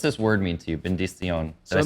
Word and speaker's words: benedición: Benedición.